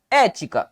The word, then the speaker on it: ética: Bom, a regra de ética é a regra de quem? Recaiu sobre a antepenúltima sílaba. Recaiu sobre a antepenúltima sílaba? Proparoxítono.